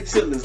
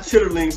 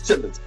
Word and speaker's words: chitterlings: And we say chitlins, not chitterlings. For everybody who was twittering and inboxing me, it's pronounced chitterlings. No, it's chitlins. CHITTLINS. When you're from the hood, it's chitlins.